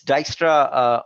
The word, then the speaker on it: Dijkstra: right it uses Dijkstra it's really hard to pronounce I'm telling you it's Dijkstra algorithm and OSPF is an example for the